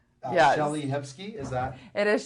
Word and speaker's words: Shellie Hipsky: Shellie Hipsky, is that? It is Shellie Hipsky, and that's spelled Hipsky, so that they can remember.